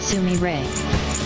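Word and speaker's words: Sumire: th I told you her name isn't Sam in game it's pronounced Sumi Ray Sumi Ray I always thought a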